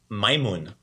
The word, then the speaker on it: majmun: word for monkey is my moon my moon very good excellent it's spelled much different than what it sounds like very much different right we have that aj makes the makes the i sound in in croatian so